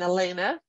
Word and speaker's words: Helena: Pio Quinto Estrada and Elena or Helena remember the age is silent in Spanish so don't get hung up because it doesn't start with an H when it did in